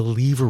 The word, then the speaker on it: lever: New York pronunciation, since I know others will pronounce it as the lever rule. So liver, lever, lever, it's all the same. Tomato, tomato. One other term that he